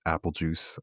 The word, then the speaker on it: Apelegeuse: It is Apelegeuse. It's Apelegeuse spelled like Beetlejuice for those who know. I will be playing Katressa Fearson.